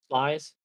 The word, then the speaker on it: Sluys: Slice? It's called Slice. It doesn't look like that. Oh. How you pronounce it?